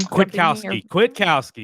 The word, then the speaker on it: Kwiatkowski: I wish I could pronounce Pete's last name. Can someone? Kwiatkowski.